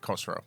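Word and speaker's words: Khosrau: Uh, K H O S. Okay. R A U. It's like Kosro.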